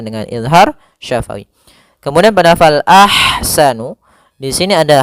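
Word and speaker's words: أَحْسَنُ: Kemudian padafal ahsanu di sini ada ha yang berharakat sukun maka dinamakan dengan ha hams. Ah alirkan nafasnya ah. Ah kemudian baru dibaca dengan sanya.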